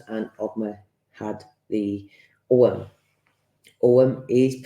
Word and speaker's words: Ogham: has the runes and obma had the OM om is pronounced om although is spelled ogam but it is om